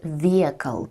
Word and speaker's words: vehicle: And vehicle, pay attention to the pronunciation. Vehicle, H is silent.